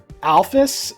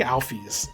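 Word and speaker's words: Alphys: It's funny because it feels like Alfus and is it Alfus or Alfie's? I I knew it. My version my pronunciation was correct, but I got so used to everyone else pronouncing it the incorrect way that I've forgotten which one is correct. Uh I think Alfie's is the correct one.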